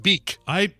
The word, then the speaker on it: Bic: So they're pronounced beak.